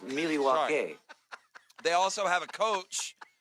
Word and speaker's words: Milwaukee: They have Actually, it's pronounced Milwaukee.